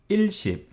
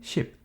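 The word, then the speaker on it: 십: now let's learn how to count from 10 to 100 in modern numbering system 10 is cheap you don't really say ill ship for 10 simply ship 20 has 2 of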